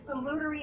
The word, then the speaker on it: salutary: It's like if you salute someone in the military, salute. Yeah. It's salutary action.